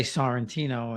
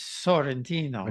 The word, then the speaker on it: Santino: I'm always embarrassed to say my name over there in Italy because I say Santino and it's Sentino.